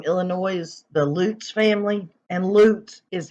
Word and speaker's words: Lutz: missing family from Illinois the Lutz family and loot is how it's pronounced guys my sister-in-law used to be elutes